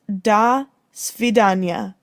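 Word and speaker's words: до свидания: the association might have been different it is pronounced da svidanya and it is russian for goodbye a person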